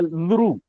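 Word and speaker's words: ऌ: दिख रहा है लु लेकिन सच में यह लु नहीं है यह गलत है यह क्या है लु ल तीथ से दांत से लेंगे लू लु ठीक है तो ये दांत इसके इसका उच्चारण होगा इस बात का ध्यान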